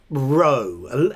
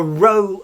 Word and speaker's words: Rho: So row, a letter.